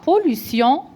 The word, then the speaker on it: pollution: إذا عندنا العنوان لو تيتر لا pollution de l'eau. La pollution de l'eau. Donc T-I-O-N prononciation. دائما كنبرونسيوها سيون. عندها prononciation سيون بحال اس.